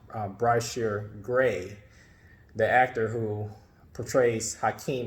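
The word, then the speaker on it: Bryshere Gray: I did see was I believe the same is pronounced bright sheer gray the actor who portrays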